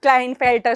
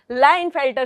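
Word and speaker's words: Klinefelter: फिर लाइन फेल्टर syndrome it's नॉट क्लाइन फेल्टर syndrome लाइन फेल्टर syndrome होता है के यहां पर साइलेंट है ये किसकी वजह से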